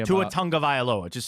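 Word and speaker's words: Tagovailoa: Somebody asks him at Alabama in an interview to say his last name, and he says Tunga Vailoa.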